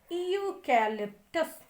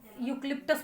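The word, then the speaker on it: eucalyptus: जैसे आप लिप्टस कहते हैं, बल्ली कहते हैं, क्या कहते हैं, यूक्लिप्टस बोलते हैं, वही वाला। सही सही क्या है प्रोनाउंसिएशन? क्लास में हमने आपको 20 बार बताया है, यूकैलिप्टस।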